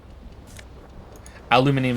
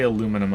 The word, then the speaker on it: aluminium: still on rolling empty aluminium is how they say it in the UK by the way and I'm guessing Europe they say aluminum over here you see bottles in